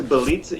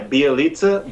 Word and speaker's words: Bjelica: Is it Bjelica? Is that how you pronounce his name? It's Bjelica. Yeah, Bjelica, but it's spelled like Bjelica.